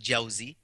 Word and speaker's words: Jawzi: You quoted Ibn Jawzi. First of all, it's pronounced Jawzi, Ibn al-Qayyim al-Jawzi.